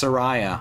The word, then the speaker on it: Soraya: i didn't know what rhymes with they call the wind mariah announced it skulltula